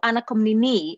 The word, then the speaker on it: Anna Komnene: of course i knew ana komnini as the greek pronunciation of the name is i know her from